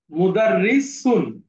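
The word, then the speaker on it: مدرسون: স্যার কোনটা মুদারিসুন এইটা এই সুন উচ্চারণটা একটু যদি আবার শুদ্ধ করে বলে দিই মুদাররিসুন সুন খুব স্বাভাবিকভাবে সুন মুদাররিসুন কঠিন কিছু না খুব স্বাভাবিকভাবে হ্যাঁ মুদাররিসুন আচ্ছা একটা জিনিস আপনাদেরকে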